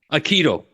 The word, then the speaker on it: Aikido: you have a lovely technique called a interpersonal Aikido technique have I pronounced that correctly uh Aikido Aikido okay so can you talk us through that